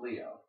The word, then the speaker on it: Lio: kid called Leo and his name is spelled l i o instead of L E O but hey I guess